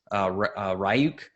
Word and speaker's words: Ryuk: some of the city's ryuk or uke depending on how you want to pronounce it but New Orleans city